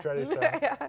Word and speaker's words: Churrascaria: I never was able to pronounce it. Churrascaria. Yeah. Churrascaria.